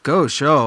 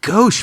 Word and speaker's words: gauche: an amazing word um it sounds different from the way it's spelled so you look super